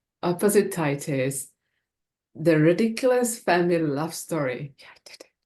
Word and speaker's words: Opposititis: author of really lovely book want you f opposite tit is the ridiculous family love story yeah did yeah yeah and you pronounced it right that's not easy yeah opposite tius yeah you know what my dyslexic brain when